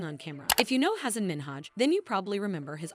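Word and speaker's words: Hasan Minhaj: And it's Hassan Minhaj. No. Yes. No. Really? Well, my name is Hassan Minhaj. Oh. How do you not pronounce Hassan? Try it. All right. Hassan Minhaj. No, that's not.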